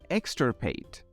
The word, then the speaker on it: extirpate: on to our second word this word is pronounced as extirpate extrapate this word is a verb that means